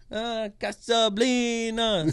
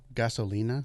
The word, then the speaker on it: Gasolina: Casablina. Say about it, Casablina. And it's like, so. Gasolina?